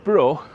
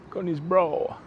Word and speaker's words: Conisbrough: Anyway, brough, you just say it like your brother, won't you? Brough. Conisbrough.